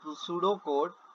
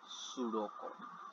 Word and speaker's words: pseudocode: It is not pseudocode, P is silent over here, it is a pseudocode which is very much in your CIP2.